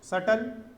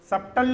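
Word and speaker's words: subtle: at first suppose सटल सबटल नहीं है वो बी साइलेंट है उसमें सटल अब सटल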